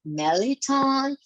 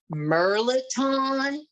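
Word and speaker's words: mirliton: Here we either call it Meliton, or some people call it Merliton.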